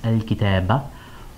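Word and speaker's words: الكتابَ: So, al-kitab with a fatha here, pronounced al-kitaba, or on an indefinite noun with fatha tanween.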